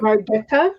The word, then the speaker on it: Margetta: Margetta, with the hard G I got it this time, said, good evening, everybody.